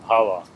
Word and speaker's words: bhava: They call it bhava. Power, okay. Bhava. Power, how do you spell it?